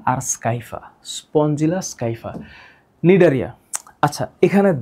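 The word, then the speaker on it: Scypha: উচ্চারণটা হবে Spongilla স্কাইফা, Spongilla স্কাইফা, Spongilla স্কাইফা, Spongilla স্কাইফা।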